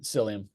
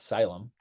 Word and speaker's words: psyllium: Sy husk yeah um is it syum orium psyllium I think it's I think it's that's how I pronounce it at Le definitely definitely not syum I can't read it's